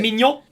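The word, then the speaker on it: Maignan: Side note from that, did you see how they pronounce Mainan? How you actually pronounce it? Mignon.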